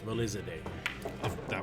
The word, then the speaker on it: Valizadeh: It's Valizadeh.